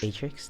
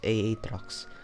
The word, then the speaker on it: Aatrox: A I mean, is it in is other it example in other Aatrix? games, Aatrox? Atrix? No, it's Aatrox. It's double H. You have to Aatrox.